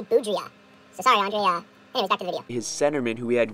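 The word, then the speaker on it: Boudrias: the departure of Andre boudre hello everybody um after filming this video and I'm in the process of editing I realized butchered this guy's name it's actually Andre boudia his centerman who he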